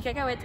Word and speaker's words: cacahuète: Mais on dit cacahuète. Et ça s'écrit H-U-E-T. Camille, et c'est toujours très important ce qu'elle me raconte. C'est écrit cacahuète. O-U. Comment C'est H-U. Comment? Cacahuète. C'est cacahuète. Bon, regardez, là, tu peux